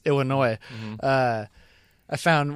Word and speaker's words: Illinois: in like Illinois Illinois I pronounce the S Illinois uh I found like